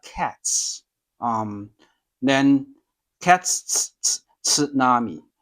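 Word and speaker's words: 津波: Same in English, we say tsunami, but in Japanese, it's called a tsunami, it's tsunami, right? Tsunami. So the tsu is, you can start with like cats, then cats, tsunami, sushi.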